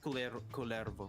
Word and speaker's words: Kullervo: Culervo. Because if it Oh. was Mexican, we would pronounce it as Cuyervo.